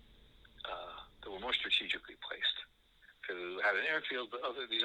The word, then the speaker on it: Peleliu: and atoll, really, called Peleliu. It's spelled P-E-L-E. P-E-L-E-L. Let me start all over again while we're all confused. P-E-L-E-L-I-U. I'm pronouncing it Peleliu. That's how it's pronounced in the U.S. documentaries.